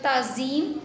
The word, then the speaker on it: تعظیم: تمدن۔ اگلا لفظ ہے تعظیم۔ پہلا لفظ مفتوح ہے یعنی اس پر زبر ہے، دوسرا لفظ ساکن ہے یعنی عین، تیسرا لفظ